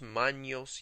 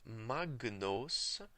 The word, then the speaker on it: magnos: The letters GN, as in magnos, are pronounced as in NY sound in English. Manios, manios, in the ecclesiastical pronunciation.